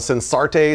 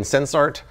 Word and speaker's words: Sensarte: Half the people out there calling it Sensarte, some people say it in Sensart. Based on their website, it's supposedly a combination of the word sense and art, so I'm saying Sensart.